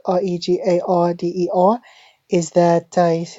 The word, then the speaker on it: regarder: Now, this end here is a consonant. In French, most ending consonants are not pronounced at all. Okay, so this is silent, right? This R here is what I call a dry throat R, and this middle one is called a wet front R.